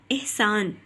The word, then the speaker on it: احسان: الف کے نیچے زیر، ہے کے اوپر جزم کی علامت، سین کے اوپر زبر کی علامت اور نون ساکن. تو لفظ بن گیا احسان.